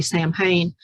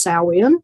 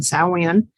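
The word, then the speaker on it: Samhain: say that we'll say champagne but it's actually pronounced salwin which is gaelic and that is um the proper pronunciation saoin but salmon is a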